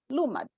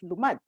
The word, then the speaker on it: Lumad: of Humanities Diliman, wherein I put an accent, right, on the first syllable, Lumad. And then he wrote back to me. He says, it doesn't belong the first, it belongs in the second, it's Lumad.